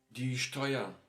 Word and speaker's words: Steuer: Same you have for E and U, but this one is a bit differently. It is same like O and I, so oi. Yeah, oi. This is how they put together here. So oi is also very short all the time. So die Steuer, yeah, famous thing in Germany, die Steuer.